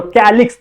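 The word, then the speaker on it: calyx: देखो word pronounce करो, कैलिक्स, तो आ रहा है ना बीच में के, कैलिक्स, ऐसा लग रहा है ना हम लोगों को ये स्पेलिंग के से शुरू होनी चाहिए, लेकिन के से होती नहीं है, सी से शुरू होती है।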